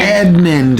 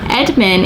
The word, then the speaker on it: Edmund: narnia with edmond and edmond i'm going to say it right i said it wrong but edmund in the story he's